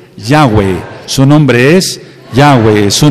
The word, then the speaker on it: Yahweh: De mi nombre, hay que pronunciar su nombre. Su nombre es Yahweh.